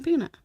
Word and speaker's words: Pinna: King Pinna.